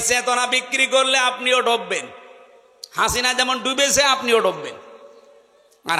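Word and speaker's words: حسنة: লক্ষ লক্ষ মানুষকে দেখলাম কাবা শরীফে এই রুকনে আমিনি থেকে হজরে আসওয়াদ এটা পার হওয়ার সময় এই নামটা উচ্চারণ হচ্ছে, হাসিনা না হাসানা।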